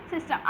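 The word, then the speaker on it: tsetse: टी जो होता है वहाँ साइलेंट होता है, तो सीसी फ्लाई इसका वाहक होता है।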